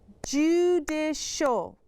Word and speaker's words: judicial: Do you hear how that last syllable makes a sh sound? Let's listen to that again. Judicial.